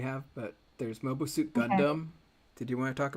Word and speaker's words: Gundam: Just tell me uh really quickly again how you pronounce it. What? Quacks. Gundam. Quack. It it's Gundam.